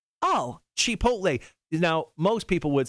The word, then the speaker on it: chipotle: this place before it's an honest place it's chipotle oh chipotle now most people would say uh chipotle but